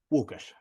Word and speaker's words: Lukas: you can introduce so welcome to the show Lucas thank you perfect pronunciation you you must have had a very